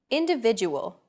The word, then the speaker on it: individual: Individual. The stressed syllable vi in individual is deemed more important, so it's pronounced longer than all other syllables.